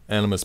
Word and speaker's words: Animvs: first off it's spelled animus with a V but the V is pronounced you so just pretend it's Latin this funny spelling was